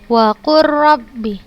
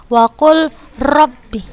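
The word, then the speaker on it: وَقُلْ رَبِّ: lihat Hai disitu ada huruf lam sukun bertemu dengan huruf yang berharakat maka kita langsung bacanya ke huruf ro tidak kita baca lagi huruf lam nya dan tanpa Guna sudah Contohkan Ayo kita baca sama-sama wakur rapi a'udzubika Waku Robby bukan usah baca wakul Robby bukan tapi langsung kita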